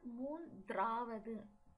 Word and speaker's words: மூன்றாவது: Here it is not மூன்றாவது. The D is silent.